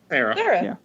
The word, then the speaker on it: Cera: Sweet Chuck would be Michael Cera. Cera? How do you say it? Cera? Sarah. Yeah. And Michael somebody recast Hooks as Kevin Hart.